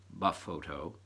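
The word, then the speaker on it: BFOTO: it's called befoe toe the acronym is capital bf OTO low caps pronounced buff photo which stands for blinding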